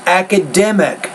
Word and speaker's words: academic: academics of technology gives academic subject now and so their stress on the third syllable academic thank you why